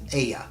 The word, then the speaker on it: Ea: They crossed into our world long ago under the Sumerian name Ea, pronounced Ea, Lord and King of the Sea.